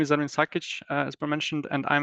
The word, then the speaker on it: Ermin Sakic: Our next speaker is Ermin Sakic. Am I saying that correctly? You are pronouncing it correctly, Bjorn.